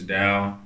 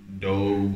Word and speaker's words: Dowe: Like, my last name is Dowe, but some people say Dove or Dove or whatever.